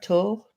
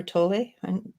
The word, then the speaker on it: Tolle: I follow Eckhart Tolle, or Tolle. I kind of think it's pronounced Tolle because it looks like a French name to me, but I will go with the general and go Tolle.